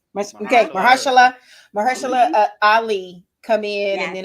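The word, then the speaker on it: Mahershala: um and so i'm incredibly excited to see mahashala you said it right okay maheshala ali come in and then of course they've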